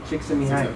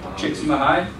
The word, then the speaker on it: Csikszentmihalyi: Does anybody know how to pronounce the gentleman's name? Csikszentmihalyi. Csikszentmihalyi? Csikszentmihalyi, okay.